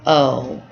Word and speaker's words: aux: a has to become Oh aux it is still pronounced oh you don't say the X just like here this